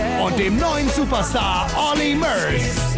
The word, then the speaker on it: Murs: dem neuen Superstar Olly Murs. It's pronounced Murs, not Mears.